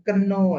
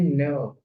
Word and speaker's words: know: misalnya nah ini dia ini artinya tahu itu bacanya bukan Keno ya tapi now to know you bukan gelap to know you nah ini berarti silent key berarti yang tanya yang nggak dibaca dan Oke jadi ada